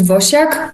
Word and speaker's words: Wosiak: pronounce your name uh the Polish people pronounce it vosak but I'm absolutely comfortable with vak W wak whatever works so I